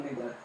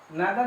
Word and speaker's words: neither: each, every, either और neither। neither भी बोल सकते हैं, neither भी, इधर neither, या तो either neither, दोनों इसका प्रोनाउंसिएशन सही है।